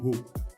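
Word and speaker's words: हो: Donc en profondeur, c'est ho plus na. Bien prononcer le H.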